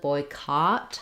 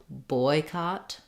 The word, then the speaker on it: boycott: and in this case no it doesn't boycott has the ah vowel so that sounds like caught it's also stressed on boy boycott boycott versus a boy